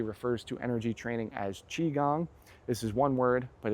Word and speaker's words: Qigong: So the martial arts community refers to energy training as Qigong. This is one word, but it's spelled Qi, so it's Qi. It looks like Qi, but it's pronounced Qi. Gong like you hit a gong, so G-O-N-G.